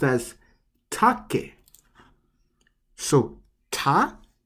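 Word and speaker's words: 竹: the word take but in japanese it's actually pronounced as take so ta take take means bamboo now we're up to the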